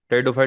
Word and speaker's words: Pteridophyta: फिर आगे आपके टेरिडोफाइट्स टेडो फाइट में जो पी है वो साइलेंट रहता है ठीक है उसके बाद